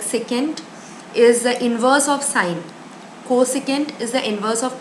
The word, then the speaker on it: sin: for sine its sin which is pronounced as sine for cosine x cos